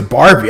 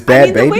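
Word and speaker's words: Bhad Bhabie: like bad bad baby i thought it was bar i thought her name was barbie i don't know why i thought her name was barbie all these all this time but it's bad baby it's spelled i think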